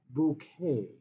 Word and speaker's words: bouquet: It is a bouquet of flowers, except that it's a bouquet.